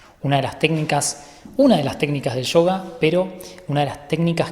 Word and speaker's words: yoga: Saben que yoga en la O tiene esa rayita, por lo tanto, la forma correcta de pronunciarlo sería yoga.